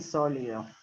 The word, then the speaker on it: sólido: sólido si acá ponen sólido liido con acento en la o sólido sólido si esperamos un rato